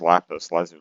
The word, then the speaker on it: lapis lazuli: differentiate between the two i mean it is lapis lazuli that's how it's pronounced and it's also laughs because that's how